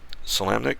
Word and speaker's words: Solamnic: Solanic? Because I know there's some occasions where the M or the N is silent, but I don't know if you pronounce it with this one for Solanic or Solamnic.